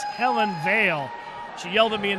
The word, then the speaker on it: Hellen Vale: Little correction, I'm sorry, I mispronounced her name. It's Hellen Vale.